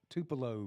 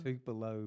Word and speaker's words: Tupelo: We are joined live from Tupelo, Mississippi. You got to say it like that. Tupelo? Tupelo, Mississippi.